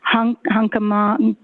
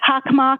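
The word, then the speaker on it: Hockomock: It began with an H, Hunkamon Sports. Hawkmock, okay, thank you very much for the pronunciation.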